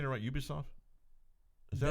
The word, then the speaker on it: Ubisoft: i saying to write ubisoft is that how you say it uh they would say ooh be soft ubisoft ew they're french yeah um once you play